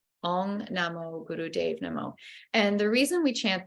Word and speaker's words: Om Namo Guru Dev Namo: And it sounds like Om Namo Guru Dev Namo. The Dave is like the name Dave. Om Namo Guru Dev Namo.